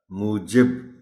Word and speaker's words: موجب: موجب، عام استعمال کا لفظ نہیں ہے مگر درست تلفظ اس کا موجب ہی ہے.